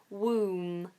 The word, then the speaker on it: womb: so it's w and we just end on that nasal M sound woom and tomb okay it's